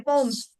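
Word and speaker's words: poems: written पो्स यस पो्स पोयम नहीं बोलते हैं उसका प्रोनाउंसिएशन पोम है पोम्स okay P ओ ई एम एस हां पी ओ ई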